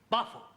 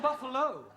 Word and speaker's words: buffalo: Buffalo Carol confused yeah words that U end in know like Buffalo or radio or vertigo you pronounce the O but when there is no o you don't add one understand yes I give up